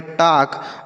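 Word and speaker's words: talk: के है बच्चों तो यहां पे अगर ए के साथ एल लिखा रहे के साथ एल लिखा रहता है तो एल को हम नहीं पढ़ते किसको नहीं पढ़ेंगे? एल को नहीं पढ़ेंगे। मतलब वह साइलेंट रहेगा। तो इसे हम पढ़ेंगे टॉक मतलब होता है बात करना।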